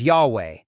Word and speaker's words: Yahweh: interact with God whose personal name is yhwh pronounced as Yahweh which is usually translated as the Lord God